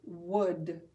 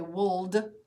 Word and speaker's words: would: cream for dessert would what letter is silent in the word would the L for sure isn't it we don't say woulld we say would let's